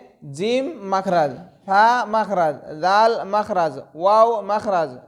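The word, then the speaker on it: ف: নাম ফা তার নাম ফা ফা হাসি মুখে দাঁতে ঠোঁটে আদায় হবে ফা হাসি মুখে দাঁতে ঠোঁটে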